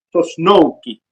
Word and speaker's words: Sosnowsky: de- de conversar con la señora Magdalena Tosnowski. ¿Cierto? ¿Está bien Así es, pronunciado?